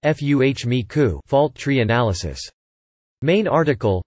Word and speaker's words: FMECA: FMEA is known as failure mode, effects, and criticality analysis, or FMECA, pronounced FUHMEKU, fault tree analysis.